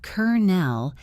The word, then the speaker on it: colonel: The next time someone in a film says colonel, you will hear Kernel and smile to yourself